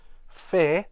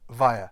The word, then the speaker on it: fair: as a v and this word is not actually pronounced fair or ver but via as in fire so it's imagine it